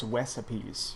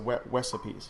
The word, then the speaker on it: Wesapes: The correct pronunciation is Wesapes because my name is Wes, and then the pun is off of recipes. Yes, so Wesapes.